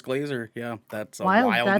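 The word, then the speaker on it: Grazer: how is that blazer do you know if that's how you pronounce that name i'm pretty sure it's glazer yeah that's my old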